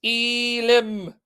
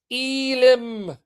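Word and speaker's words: אֵלִים: The plural of El is Elim or Elim. Now, why am I pronouncing it? So you don't think I'm saying the letter L.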